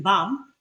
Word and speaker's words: balm: Then we have the sound L in level, in love, lamb, but it's silent in balm.